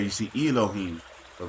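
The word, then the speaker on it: אלהים: You have Alahayim, which Alahayim is how you say gods in Hebrew. Allah, when you add yum at the end of the word, it makes it plural.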